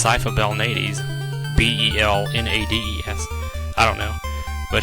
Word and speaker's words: Belnades: I've heard some people spell it more like Velnumdes, like Velnumdes or something, I don't know. But I'm pretty sure it's Sypha Belnades, Belnades.